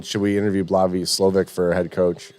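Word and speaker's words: Slowik: slovic for head coach slowick maybe it's SL I think with a V Oh I thought it was SL well maybe the W is pronounced as a v cuz you know East block uh But like after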